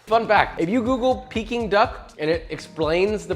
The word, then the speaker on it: Peking: Fun fact, if you Google peeking duck and it explains the pronunciation, need I say more? It's peeking just like me.